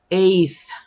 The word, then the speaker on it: eighth: Eighth, eighth. In here, GH doesn't sound, so you just pronounce eighth.